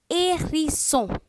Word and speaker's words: hérisson: So whenever you see E accent aigu, E-R, E-Z, sometimes E-T, you pronounce it as A. Hérisson.